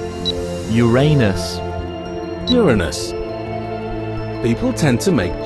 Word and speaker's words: Uranus: make junks with its name but it's actually pronounced Uranus Uranus is the seventh planet in order from